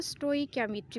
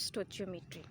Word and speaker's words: stoichiometry: कुछ लोग इसको स्टोइकियोमेट्री भी प्रोनाउंस करते हैं और कुछ स्टोइचियोमेट्री।